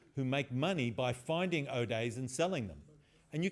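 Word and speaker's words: 0-day: Though, if you're a hacker, you pronounce 0 as O. So O day is what it used to be called. But I have heard lots of people say 0 days now.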